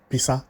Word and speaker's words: Pisa: You know the pizza we eat? That is almost how it is called. They use somehow design of Pisa, build a house, and it is like that, although it is spelled as P-I-S-A, Tower, Italy. If you Google that, you